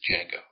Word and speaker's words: Django: your name he says Jango and U he ask how you spell it he says yeah my name the D is silent he says I know